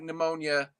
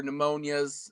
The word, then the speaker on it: pneumonia: But if it's just something like pneumonia or pneumonia or pneumoni, right? It just is the P is unnecessary.